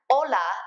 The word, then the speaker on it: hola: a little pronunciation reminder remember that you don't pronounce the H's when they come at the beginning of a word like Ola is hola and not hola just like AA is